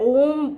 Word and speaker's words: ओम: म पे आप कभी ज़्यादा स्ट्रेस नहीं करेंगे, यानी म शुड नॉट बी लॉन्गर। मैंने जब अपने स्टूडेंट्स को देखा, they all focus more on म। होता ये है कि जब आप ओम का उच्चारण करते हैं आपको लगता है ओम बोलना यानी लंबा ही होना चाहिए। जब आप उसे लंबा बोलने जाते हैं तो आप म पे ज़्यादा फोकस कर बैठते हैं ना।